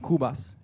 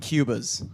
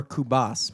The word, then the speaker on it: Cubas: crack at this is Carlos cool bus perfectly I figured it wasn't Cuba's that's right that's exactly how I pronounced my first manager that's